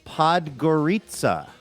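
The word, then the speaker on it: Podgorica: I should have moved this up, but there's a pronouncer in the first line of Laura's message. Podgorita.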